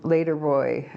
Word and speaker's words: L8RBOI: The song Later Boy, Ashniko, and it's spelled L8, the number 8, and R, Later Boy.